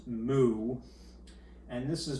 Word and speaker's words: mu: this ratio what are these things this is pronounced mu and this is pronounced sigma and they're both